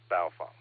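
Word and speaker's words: Baofeng: I made a list baofung it's a baofung it rhymes with cow dung I know it's spelled bowel Fang but Asians will tell you it's pronounced baofan rhymes with cow dung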